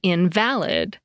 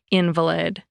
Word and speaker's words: invalid: According to Merriam-Webster, the word means being without foundation in fact or truth, when you stress the second syllable, as in invalid.